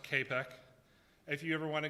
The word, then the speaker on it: CAPEC: So next, on the attacker method, you have the MITRE CAPEC, and that's pronounced CAPEC.